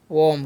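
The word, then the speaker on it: warm: डब्ल्यू ए आर एम है तो इसमें पढ़ते हैं वम। क्या पढ़ेंगे? जी वर्म। ठीक है? वम पढ़ना है।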